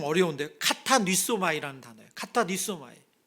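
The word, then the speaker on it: κατανύσσομαι: 이 찔렸다는 단어가 이 발음이 좀 어려운데 카타니소마이라는 단어예요.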